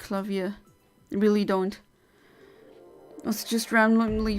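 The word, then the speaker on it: Klavier: one what's his name people always say clavier but um the the the word or the name is exactly spelled like the um the German word for a piano clavia so I always just called him clavia like the the German name essentially artistic Edward had Canon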